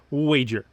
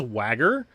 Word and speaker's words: wager: I first read this I actually mispronounced the word altogether and I looked at the wife and I was like what's wagger anyways this card states that